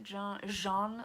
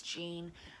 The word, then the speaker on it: Jean: on Twitter, Jean Sorry, I look at your name and I want to pronounce it Jean, like a French sound. It's Jean from Happy Indulgence.